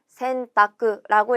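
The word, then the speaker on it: 洗濯: 그리고 센타크라고 읽을 거예요.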